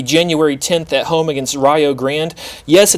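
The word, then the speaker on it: Rio Grande: game will be january 10th at home against rayo grand yes it's pronounced rayo and yes they're in the kiac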